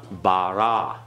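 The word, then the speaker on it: בָּרָא: Okay, now get all the ah in there, okay? Bara. Okay? Bara. Everyone? Bara. The aleph is silent.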